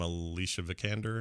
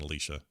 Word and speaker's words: Alicia Vikander: uh what's her name alicia vikander is how you say her name not alicia sure erica whatever it is